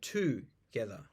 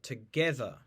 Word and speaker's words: together: stressing certain phonemes so you might have the word together we don't say two together we say together we stressed the syllable get in the IPA you